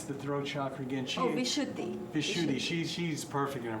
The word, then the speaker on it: Vishuddhi: So now, for instance, and how do you pronounce the throat chakra again? Vishuddhi.